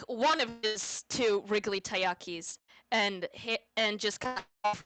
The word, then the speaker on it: taiyaki: chromatic dragon's beard and a really I cannot pronounce that. Tayaki? Taiyaki, yes.